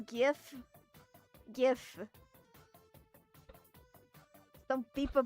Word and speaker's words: GIF: How to pronounce GIF? GIF. Some people pronounce it GIF for some reason, but it's a GIF.